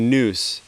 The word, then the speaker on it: nous: came up with the idea originally um the noose in as how it would be pronounced in ancient greek i simultaneously the way